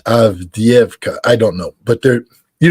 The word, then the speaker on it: Avdiivka: I think it's not Advika. I think it's Avdiivka.